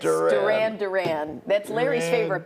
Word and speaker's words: Duran Duran: wrong syllable a Duran little bit. It's Duran. Duran Duran.